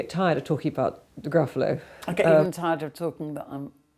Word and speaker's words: Gruffalo: I thought he could begin with grr, because that kind of sounded fierce. And then I think Gruffalo just fills itself in, I suppose, because it rhymes with buffalo.